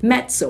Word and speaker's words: mezzo: are pictures of this pazo you also have metso inter metso metso I hope you got that